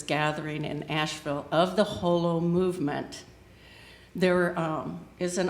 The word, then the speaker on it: Holomovement: That's Holo. So if you're trying to remember how to pronounce it, it's not Halo movement or holo.